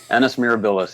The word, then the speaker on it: Annus Mirabilis: Annus Mirabilis. Okay, he didn't sneeze. Okay, just making sure. No, I butchered it though. Let's see. No, I think you got it right. Mirabilis. Annus Mirabilis, yep.